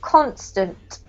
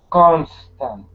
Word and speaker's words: constant: here Pages Pages good this one here has the emphasis on the first syllable constant constant good this one here